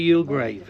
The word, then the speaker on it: Youlgrave: Can tell us how we pronounce it and how we spell it. Y grave without the e. Definitely your grave.